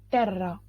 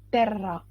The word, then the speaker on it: terra: Per terra. Terra e não terra, porque dois R, la doppia R, dois R em italiano a gente pronuncia R, então vibra a língua, R, e não R, como em português.